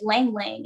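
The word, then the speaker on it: ylang-ylang: And it includes an ancient plant known as lang lang. And it's spelled a little different, YLANG.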